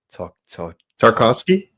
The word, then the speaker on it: Tarkovsky: Yeah, it's because it's I forget how you pronounce his name, but is it Tarkovsky? Tarkovsky?